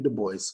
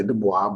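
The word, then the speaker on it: Du Bois: So, We De Boyce is is his full name was William Edward Burg Bart. Bart Boyce. Some people say Dwis, but that's not how you pronounce it.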